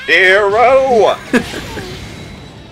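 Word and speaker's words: Gero: Euro there you go although it's technically pronounced hero nice and that guy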